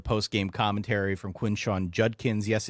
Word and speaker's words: Judkins: he just kept going the junkins junkins junkins I looked on the pronunciation guy to make sure I wasn't crazy it's Judkins it is Judkins of course I listen